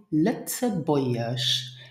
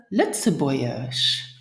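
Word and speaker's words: Lëtzebuergesch: Pronounce it Litzebäuerisch. Let's try it together. Ich schwätze Litzebäuerisch.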